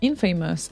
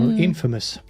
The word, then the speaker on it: infamous: he wants to hear Infamous and lazy Jones or inFAMOUS no kidding that I said it wrong again Infamous yeah Infamous okay Infamous and